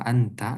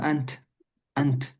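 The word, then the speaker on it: أنت: ada dua sukun ketemu contoh orang Arab tuh sebenarnya bilangnya gini kaifauka anta ta ya kan anta sebenarnya tanya disukunkan orang Arab tuh jadi bilangnya kaifa ant ant ya man ant gitu siapa kamu man ant kurang suka karena ada dua sukun ketemu jadi lebih memilih dibaca man anta gitu supaya enggak ada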